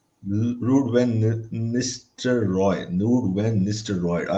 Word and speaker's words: Ruud van Nistelrooy: Rude when how you pronounce it, I always forget. Ruud van Nistelrooy. Rude when Mr. Roy.